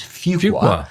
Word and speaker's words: Fuqua: I finally began to understand how you pronounce the name, which is Fuqua.